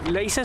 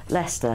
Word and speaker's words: Leicester: how to get to laser store um he wants to go to Lester he pronounced it Lester do you mean Lester yeah yeah yeah he